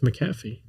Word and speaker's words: McAfee: Yeah, I think it's Macaffy. I believe you over me. It may be. I don't know. When you said it, I was like, I've been pronouncing it wrong for so long. You know, is it McAfee, Joel? You know, McAfee. Macaffy. Huh? It's McAfee. McAfee. Okay, it's McAfee.